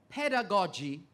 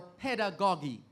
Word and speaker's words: pedagogy: so landworth right now a word that has two possible pronunciations pedagogy or pedagogy pedagogy or pedagogy p-e-d-a-g-o-g-y